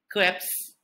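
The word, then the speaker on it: crêpe: french pancake that is known as crap but sometimes it is also pronounced as crepes next is everyone's favorite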